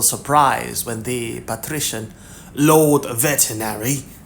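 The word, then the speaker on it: Vetinari: I mean, no offense, of course, but we were a little surprised when the patrician, Lord, veterinary, said Vimes helpfully, putting a slight stress on the first syllable and hearing the growl on Q.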